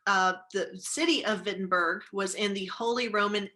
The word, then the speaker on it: Wittenberg: to the university of wittenberg i know it's spelled with a w but it's pronounced with a v okay so the university of wittenberg the city of wittenberg was in the holy